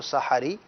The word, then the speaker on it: سحری: ہے وہ سحری ہے، اس کو سحری کہنا چاہیے. سین پر بھی زبر ہے اور ہا پر بھی زبر ہے. بعض سحری بولتے ہیں، بعض سحری بولتے ہیں، تو درست تلفظ ہے اس کا سحری.